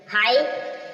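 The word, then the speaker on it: high: Emil है बताएंगे जैसे आप देख रहे हो हाई हाई मीस ऊंचा य पर जो जी है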